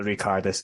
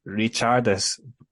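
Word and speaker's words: Ričardas: So I've been reliably informed that I was saying Barrancas' first name wrong. It's not Ricardus, it's Richardus.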